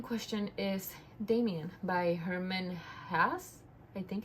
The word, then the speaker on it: Hesse: So the book in question is Damien by Herman Hesse. I think it's how you pronounce it. I was saying Herman Hayes, but apparently it's like Herman Hesse or something like that.